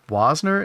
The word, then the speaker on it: Wasner: Just want to tell you, the A in Wasner is pronounced like the A in man. Man. Waisner?